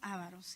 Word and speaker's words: avaros: Ávaros o avaros. Sí lleva la mayor fuerza de voz, ¿no? Ávaros, está bien hablado.